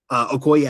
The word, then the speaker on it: Okoye: However, I would have enjoyed Okoye. Okoye, I think, is technically the Okoye? pronunciation.